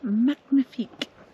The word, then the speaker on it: magnifique: As the French would say, magnifique.